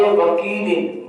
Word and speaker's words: وکیل: ہی پڑھتے ہیں۔ کریم، اب اس کے آگے وکیل، وکیل، اب وکیل، اب اس کو واو زبر